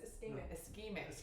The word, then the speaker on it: ischemic: To pronounce it. AVM. No, it's ischemic.